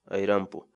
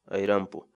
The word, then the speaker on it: ayrampu: de vídeos en la que te enseñamos a pronunciar algunas palabras en quechua así que nuestra palabra del día por hoy es airam pu airam pu airam pu la palabra quechua en español significa airam bo